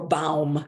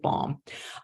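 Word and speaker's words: Baum: show that they took the name bomb b-a-u-m or balm if you want to speak pronounce it germ in a German fashion the ones in the United States pronounce it bomb um now lesser there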